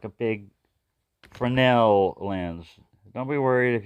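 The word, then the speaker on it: Fresnel: it's like a big frenel lens don't be worried if you're mispronounced it because it's a French word in most of my life I pronounce it as the way it's spelled fresnal it's called This is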